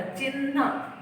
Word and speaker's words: चिन्ह: मैंने न जोड़ा है, तो हम ऐसा प्रोनाउंस करते हैं, तो उसमें चिन्ह, तो ह थोड़ा होता है, न आखिरी में आता, चिन्ह ऐसा हम बोलते हैं, तो ये ह और न है।